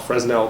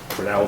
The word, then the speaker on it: Fresnel: which is frel strength some people call it fresnel but it's frel is the right pronunciation frel strength and frel